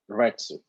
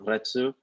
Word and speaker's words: retsu: the seal is called retsu now the the letter u at the end of retsu it's almost silent so you could pronounce